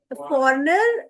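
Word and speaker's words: foreigner: Friend, friend, native, फॉरेनर, जी silent होता है, फॉरेनर हो सकता है और ओवरसीज हो सकता है।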